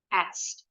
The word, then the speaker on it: asked: Ini kalau dalam IPA symbol, akhiran ed-nya bunyinya T. Jadi ada 3 bunyi huruf konsonan. Penutur asli bahasa Inggris juga repot kalau lebih dari 2 huruf konsonan jadi 1. Nah, jadi mereka seringnya membuang bunyi yang di tengah konsonannya. Jadi bentuk kedua ini, simple past verb-nya bacanya asked.